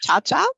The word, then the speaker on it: Chia-Chia: Hi, I am Chia-Chia, pronounced just like the dance.